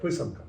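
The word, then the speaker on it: писанка: It's it's very pisanka.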